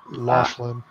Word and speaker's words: Laughlin: I don't know how to pronounce that. Steel Company tank car. Laughlin.